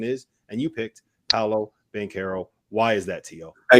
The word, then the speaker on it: Banchero: Goodman, it's Paolo Banchero. Get it right. You pronounced it wrong for 18 months.